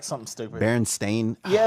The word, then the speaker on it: Berenstain: Are you making G Unit the bullies from the Bernstein Bears?